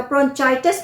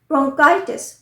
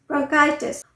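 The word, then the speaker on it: bronchitis: इसकी स्पेलिंग भी ध्यान से देखिएगा, ब्रोंचाइटिस नहीं होता है, CH नहीं, ब्रोंकाइटिस, ब्रोंकाइटिस।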